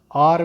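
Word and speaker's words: hour: आर में H silent है तो अ की साउंड है।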